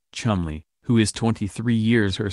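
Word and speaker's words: Cholmondeley: seventh Marquis of colell pronounced for God knows what reason Chumley who is 23 years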